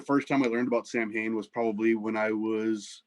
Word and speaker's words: Samhain: what it was because you read it as samhain well yeah it was a really great band with glendale uh but sally yeah um mean it's spelled s-a-m-h-a-i-n but it's pronounced samhain and you know that's